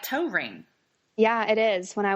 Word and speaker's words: Toering: to say it so I never even saw tow ring okay that's so encour that really is just